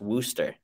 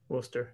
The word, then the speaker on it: Worcester: learned the other day that worchester massachusetts is pronounced wooster wooster yeah yeah that's stupid it's not spelled that